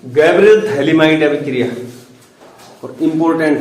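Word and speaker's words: phthalimide: Gabriel थैलिमाइड, spelling P से शुरू होती है, पथैलिमाइड, पढ़ते थैलिमाइड है हालांकि।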